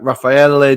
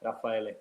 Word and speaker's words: Raffaele: Raffaele. And you are from Rome. You've played in Scotland as well. How are you today? I'm good, thank you. Yeah, no, that's a good pronunciation. It's Raffaele.